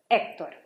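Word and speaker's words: Héctor: You don't say Hector. It's Hector. Okay, another word from the book.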